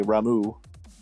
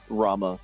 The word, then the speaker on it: Rama: I disagree with heavily, like when they say Ramu. The downside of learning words in the katakana first. Depending on how it got transliterated. Well, like, it's pronounced how it's spelled, and I was like, it's spelled Rama. And then if you speak most languages on that subcontinent, it would be Rama, I believe.